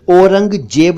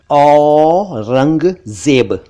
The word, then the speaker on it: औरंगजेब: एक मुगल बादशाह का नाम है औरंगजेब, औरंगजेब नहीं, औरंगजेब, औरंगजेब।